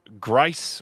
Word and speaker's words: Grice: also wants to let you know that Grice rhymes with rice.